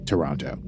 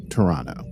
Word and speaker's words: Toronto: they just need to take that back to Toronto which by the way I've been pronouncing like an American this whole time apparently you're supposed to call it Toronto I know that and I'm sorry that I